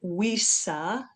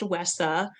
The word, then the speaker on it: WESA: Okay, a little bit about WESA and you will hear there are some people that call it WISHA. It's not how they pronounce it. It is pronounced WESA.